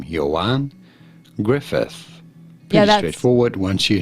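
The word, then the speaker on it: Ioan Gruffudd: are you here as I say his name Johan Griffith no that's not what they said how to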